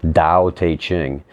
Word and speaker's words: Tao Te Ching: guess it's pronounced Tao, with the T is pronounced like a D, Tao Te Ching.